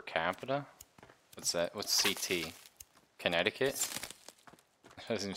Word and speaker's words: Connecticut: Connect I cut. Oh, fuck off. No, that's not how you say it. Is it? Learn to spell me. Like, that's just the spelling. Technically it's Connecticut.